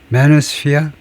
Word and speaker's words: manosphere: 발음은 manosphere 뭐 특별하진 않고 맨 앞음절에 액센트를 두면 되고 manosphere man에다가 sphere를 보탠 것이다.